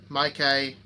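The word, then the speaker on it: Micky: is actually michael but when you say my mykai it's actually spelled m-i-c-k-y which was the last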